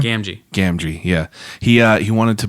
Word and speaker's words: Gamgee: Gamgee.